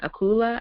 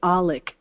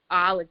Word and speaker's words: Alec: Her name is Corinne and Akula. I hope I'm pronouncing her last name right. Did I pronounce it right, Corinne? No, it's Alec. Alec, sorry.